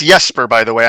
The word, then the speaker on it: Jesper: so without further Ado Jasper thank you so much for coming on today's show you're welcome it's Jesper by the way I'm Swedish so the J's pronounced like a y that is so cool